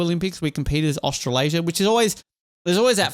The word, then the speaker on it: Australasia: How do you pronounce it? Australasia, yeah, which I looked this up.